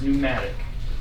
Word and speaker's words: pneumatic: for air filled is pneumatic whatch term for air is pneumatic the PE is silent it's pneumatic okay all right so